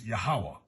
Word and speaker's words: Yahweh: indication of being the Yahweh of the Old Testament I was taught the pronunciation is yahwah but we know it's